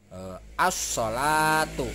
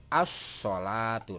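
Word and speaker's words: الصلاة: assolatu ya ya hai nah alif ram-nya alifnya dibaca lainnya tidak dibaca jadi asnah yang di jadi alif ini map lam ini tidak dibaca yang dibaca adalah ini langsung jadi ini dilewati ya para bapak dan ibu kakak di semua untuk lemnya dilewati jadi assolatu nah ini disebut sebagai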